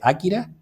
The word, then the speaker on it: Akira: que se llamaba kira tú dices akira porque es lo de akira porque así se dice en japonés tengo un amigo que llama akira watanabe y también en inglés la pronuncian akira es sobre todo japonés que es importante que desde el origen lo de akira es cuando los castellanos los hispanohablantes solemos convertir las palabras en llanas como no tiene la tilde